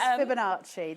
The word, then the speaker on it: Fibonacci: How to pronounce it? Fibonacci. It's Fibonacci.